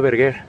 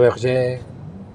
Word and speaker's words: Berger: Si es francés, si mi bisabuela era francesa, puedes poner Berger. Ah, ok. Si lo dices en español, la fonética española sería Berger.